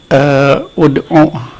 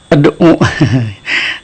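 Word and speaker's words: ادْعُوا: Ini gimana bacanya gitu kan? Karena ini tidak ada vokalnya di depannya. Masa langsung ad'u. Tapi di sini ada penjelasan. Kalaupun mau pakai harokat kan, kalau belum paham bisa jadi bacanya ad'u atau id'u mungkin saja kan? Karena belum paham tentang hamzah wasal ini.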